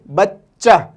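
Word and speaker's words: بچہ: यहाँ पे एक चीज़ और आप ध्यान दें, आगे आएगा ये चे जो है यहाँ पे डबल यूज़ होता है। चे को हम 2 बार प्रोनाउंस करते हैं, एक तो बे चे बच, और चे हे चा, बच्चा। और बच्चा को इंग्लिश में हम चाइल्ड कहते हैं।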